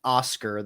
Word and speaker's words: OSCQR: briefly for listeners purposes we keep saying Oscar that is not spelled like the name we do have it on screen if you're just listening it's OS CQR and it's from Sunni